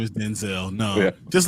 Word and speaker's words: Denzel: It was also like you find out like everyone's pronouncing Denzel's name wrong for all these years. Denzel, it's just like what black people do. We change our names all of a sudden. Like, man, it's Denzel.